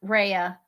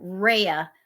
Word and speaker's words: Rhea: thank you so much Raya I'm I said your name wrong the first time Rhea is her name and now we're gonna